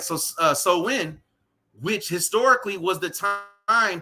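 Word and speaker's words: Samhain: Slow Wind it's locket it looks like it says Sam Hunt but that's actually pronounced so when right which goes back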